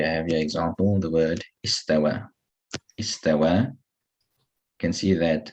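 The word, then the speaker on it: استوى: But even without that symbol there, you should know that you read this as an alif and not as a ya.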